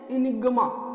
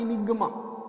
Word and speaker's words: enigma: मेरे साथ बोलिए, इनिग्मा. ठीक है, प्रोनाउंसिएशन ई से स्टार्ट हो रहा है, इनिग्मा.